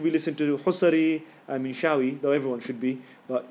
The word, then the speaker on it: Minshawi: Okay, Minshawi, Minshawi, Minshawi, or you can say in Arabic, but it's in English on YouTube.